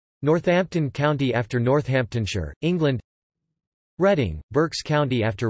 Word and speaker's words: Reading: County after Northamptonshire England reading Berks County after reading pronounced Reading Berkshire pronounced Berkshire England